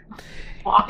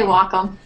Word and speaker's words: Wacom: I say Wacom. Yeah. I read I was actually just 20 minutes ago reading how to pronounce it online, and somebody called their tech support, and the person on the phone answered Wacom.